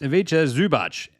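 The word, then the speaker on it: Ivica Zubac: Aviche Zubach. Pronounced Avicha Zubach.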